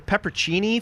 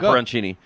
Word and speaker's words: pepperoncini: No, there's no Cini. It's Chini. Say it. Say it. Pepper, but there's a O in the middle. Oh, go. Pepperoncini.